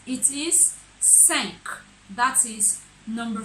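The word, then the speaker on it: cinq: It is not sink, please. It is 5. That is number 5. So I take it again from number 1 to 5.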